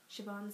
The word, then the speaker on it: Siobhan: Siobhan Smythe.